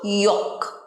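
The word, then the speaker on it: yolk: এটাতে এল থাকলেও এটার সঠিক উচ্চারণ কিন্তু ইয়ক। ইয়ক, এলটা সাইলেন্ট থাকে, ইয়ক।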